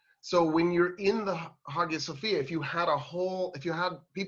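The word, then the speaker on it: Hagia Sophia: hagia sofia and i'm intentionally pronouncing it hagia sofia instead of haya sofia in turkish the there's no g so that's why it's highest sophia in turkish um i i you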